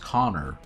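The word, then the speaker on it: Conchobar: a baldur's gate LP a guy brought in some mod character that is pronounced Connor it looked like Concha bear was how it was how it was spelled if you go read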